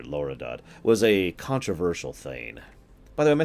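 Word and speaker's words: thegn: How do you pronounce this? Thane. Google agrees with me. Tane.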